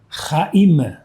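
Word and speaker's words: חיים: Como se fala vida em hebraico, raim.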